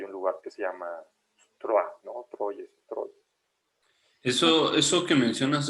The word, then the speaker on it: Troyes: Ya en francés se pronuncia Troyes, pero pues es Troyes, es Troya, ¿no?